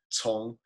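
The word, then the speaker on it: 从: It's with a C. Tong. Tong. You may have remembered that correctly, but not pronounced it correct. So it's C-O-N-G, right? Yeah, Tong.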